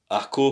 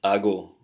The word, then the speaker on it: hago: Yeah, so you have to remember that you don't say aco, for example. It's ago.